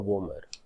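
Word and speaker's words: vomer: O को आप गौर करो कि O में जाइगोमैटिक और वोमर को डाला गया है. क्यों? क्योंकि ये दो बोन को जब आप प्रोनाउंस करोगे तो जो स्ट्रेस होता है that is ऑन O, zygomatic, वोमर.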